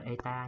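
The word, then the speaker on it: η: Cái hiệu này đọc là eta nha. Eta.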